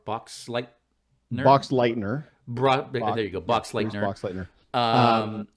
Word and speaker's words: Boxleitner: And the acting was so shaky that I feel that's why they brought in Bruce, I never know how to pronounce his name, Boxleitner? Boxleitner.